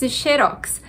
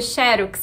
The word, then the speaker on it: xerox: acontecem são normais agora você perguntou sobre xerox xerox as duas formas são aceitas mas para dizer xerox a gente precisa colocar o acento na primeira sílaba sem o acento E